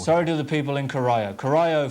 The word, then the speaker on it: Corio: It's Corio. It's a great big bay just off Geelong. Sorry to know it by the water. Sorry to the people in Corio.